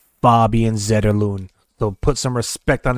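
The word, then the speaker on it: Fabian Zetterlund: beautiful top shelf goal by Fabian zon as you call him but he says his name is pronounced faban zedon so put some respect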